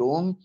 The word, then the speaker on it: Ulm: É essa a pronúncia? Tá. Isso. Trabalhou como pesquisador associado na Universidade de Ulm e hoje é professor do IB da USP, né?